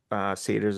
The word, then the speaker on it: Sator: I'm gonna say, how do I say his name? Sator? Satur? Seder, yeah. Sater. That's right.